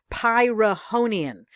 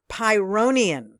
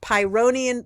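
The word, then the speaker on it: Pyrrhonian: I pronounce pronounced it pyroian there is no uh and H in pyonium the real pronunciation for this Greek philosopher is pyonium the H is silent there's no a in there so it's pyonium the pyonium Skeptics okay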